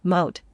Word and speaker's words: Moche: According to Wiki, the Moche civilization, Spanish pronunciation, Mote, alternatively, the Mochica culture